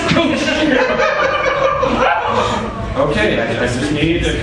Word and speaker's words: Couch: It is Cooch. It is pronounced Cooch.